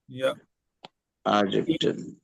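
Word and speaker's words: Japan: इजिप्टन या जिपन यािपन ए वैसे ये ए वाली आवाज निकालता है लेकिन चले आगे क्या है? जी सुभान की कंट्री कौन सी है? जापान जापान जापान प्रोनाउंस करना यापान और शीना यह आपने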